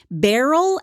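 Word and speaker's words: Beryl: Indiana where he meets barel Ethel hovius Barrel barel it's spelled like Merill but with a B it's a very unfortunate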